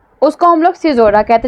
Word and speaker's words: caesura: और एक और फिगर ऑफ स्पीच है दैट इज CAESURA, सिजोरा। ठीक है, क्या स्पेलिंग है? सिजोरा।